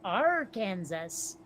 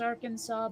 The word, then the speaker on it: Arkansas: Arkansas. I know it's spelled, or it's pronounced Arkansas, but still.